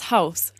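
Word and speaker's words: Haus: masculine d bank which is feminine and das house that's neuter now although these three words sound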